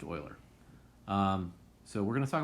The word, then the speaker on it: Euler: calculator e is named after euler so it's pronounced euler so we're going to talk about euler paths